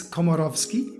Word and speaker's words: Komorowski: stories with Holly komarovski hi de Holly how are you very well thank you Ashley now I should probably say your surname it's kovski yes pronounced that really well you did really well I I I can